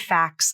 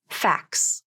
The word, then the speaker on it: facts: the word facts again I'll pronounce it two ways the first way we use the rule of three so no t- sound the second way will contain the T in the pronunciation which pronunciation sounds more natural to you facts facts wow it was hard to pronounce the T in that word could you hear how effortful it was for me and we know that